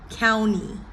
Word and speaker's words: county: they've heard it, NT, typically T following the N, the T is silent. County, county, county.